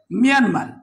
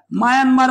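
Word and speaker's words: Myanmar: ভারত আর অপরটি হচ্ছে মিয়ানমার মিয়ানমার এ শব্দটাকে অনেকেই আমরা মায়ানমার বলে থাকি আসলে মিয়ানমার যে গর্মি শব্দ থেকে আসছে এটি হচ্ছে মূলত উচ্চারণটা মিয়ানমার মায়ানমার নয় তবে প্রচলিত অনেক জায়গাতে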